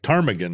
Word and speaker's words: ptarmigan: It's spelled like Turnagain, like ptarmigan. Are there ptarmigans in Turnagain? It has a silent P?